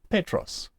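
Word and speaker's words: Πέτρος: accents found on Petros you will see the accent is on the Epsilon and we accent it we stress that syllable Petros the O Christos Christos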